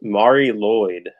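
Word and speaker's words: Mari Lwyd: uh this one uh how do you even pronounce that it's it's Mari Lloyd okay is that Welsh yes um do you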